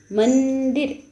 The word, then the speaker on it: मंदिर: बिंदु लगने पे अनुस्वार लगने पे क्या हो गया? मंदिर आधा न का उच्चारण होता है मन।